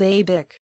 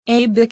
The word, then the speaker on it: ABIK: Look for an envelope in your mail from a company called ABIC. Okay? No, it's not okay. It's bullshit. ABIC is spelled ABIK.